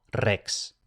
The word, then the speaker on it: rex: Luego tenemos la X que se pronuncia KS. Esto realmente como en español, aunque en español se tiende a pronunciar la X solo como S, pero bueno, en latín KS. Por ejemplo, rex.